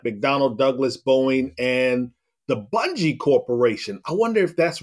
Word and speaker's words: Bungie: It is Bungie with a hard G. All right. Bungie.